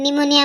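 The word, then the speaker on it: pneumonia: असतो म्हणून P silent निमोनिया मध्ये पण पी सायलेंट लिम बचा उच्चार स्पष्ट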